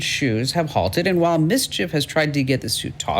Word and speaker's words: MSCHF: little knows littlenosex and a company called mischief and it's spelled mschf and they're promoting this